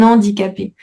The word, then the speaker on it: handicapé: fait la liaison un handicapée. Donc il y a un H, donc faut garder le H quand même, mais ça se prononce comme s'il était pas là.